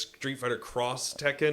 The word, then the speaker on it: Street Fighter X Tekken: a game that because they're always throwing in like an X which means cross yeah so it's like